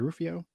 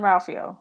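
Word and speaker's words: Jean-Ralphio: Is it Rufio in Parks and Rec? John Ralphio.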